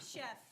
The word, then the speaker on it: Chef: It's Chef. Chef. His name's Chef, like a cook.